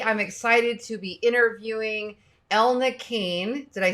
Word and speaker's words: Elna: excited to be interviewing Elna Keane did I say that correctly you did you're one of the few who actually said it right oh really yeah most people call me Elena actually so oh well